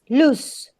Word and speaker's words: loose: you have the verb it's lose with the z sound and the uh this the adjective is loose loose your tooth is